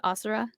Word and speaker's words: Asura: You pronounce it Asura? Okay, because I was yesterday I was literally going like Asura, like trying to figure out how I would pronounce that. It's Yeah, perfectly Asura, like a taekwondo movie.